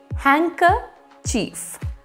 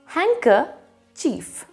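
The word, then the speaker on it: handkerchief: the other side now we have to read it as hanker chief it has a silent d it also has a silent r so you will read it as hanker chief whenever my grandfather wanted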